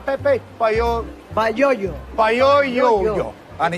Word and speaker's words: Payoyo: Payoyo.